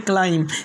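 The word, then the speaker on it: climb: यानी अगर एम के बाद बी आ जाए तो बी क्या रहेगा? साइलेंट रहेगा। जैसे पहला वर्ड्स लिम, दूसरा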